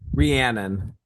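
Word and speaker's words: Rhiannon: And I never know how to pronounce the name of the song. Rian.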